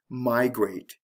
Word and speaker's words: migrate: two-syllable words do this a special case would be the word migrate did you hear this stress here the stress is on the first syllable with migrate so it has to